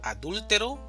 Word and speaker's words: adúltero: Entonces, el significado es diferente cuando hablamos de adúltero, adultero y adulteró.